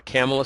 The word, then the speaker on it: Camela: her name is camela it looks like Camila but it's pronounced like Pamela camela Smith she's in I